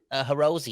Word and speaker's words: Hirose: Okay, let's talk about Akito Hirose. Am I saying that name I think it's right? Hirose. Hirose.